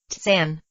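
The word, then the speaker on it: 参: Since the answer is not accessible by these methods, the student must find the answer by Kan, pronounced Tsan, Gongan, or investigating the Gongan.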